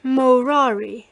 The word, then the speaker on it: morari: way of jest that he had ceased morari amongst men pronouncing the first syllable long and treated as null